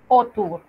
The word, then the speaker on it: auteur: Cuando usted vea A, U, se va a pronunciar O, como en auteur, o sea, autor.